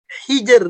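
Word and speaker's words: حجر: Khusus pada kata hijr itu malah jadi dibaca tipis karena sebelumnya sukun, sebelumnya lagi kasrah. Hijr. Hijr, bukan jadi tebal begitu.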